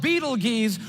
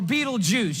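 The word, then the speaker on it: Betelgeuse: It's called Beetle Geese or Beetleju. You can pick your pronunciation. I'm obviously going with Beetlejuice.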